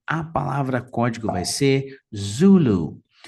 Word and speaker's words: Zulu: palavra código vai ser Zulu Zulu notem que a primeira sílaba também é a mais forte então o taxi vai